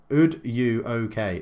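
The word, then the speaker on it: Udogie: So, Nathan Edwards says, pronunciation isn't too bad, to be fair. Heinrichs is Henrichs, though. Udoki is Ud-U-OK.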